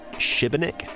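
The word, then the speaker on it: Šibenik: journey is this uh the accent above the s means that you've sort of got to pronounce it Shiba Nick though I'm sure there's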